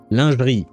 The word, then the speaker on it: lingerie: Lingerie. It's a French word. I'm going to pronounce it the French way.